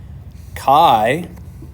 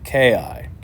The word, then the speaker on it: chi: what's called Chi Squared Kai pronounced like this it's spelled c-h-i but pronounced like this Ki so Chi Squared is